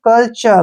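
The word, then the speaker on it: culture: का उच्चारण ल करेंगे टी का उच्चारण च करेंगे और यू आर ई को अर पढ़ेंगे ठीक है ना ऐसे अर अर आ गया च के बाद अ के साउंड आती है ना कल्चर क्या पढ़ेंगे इसको कल्चर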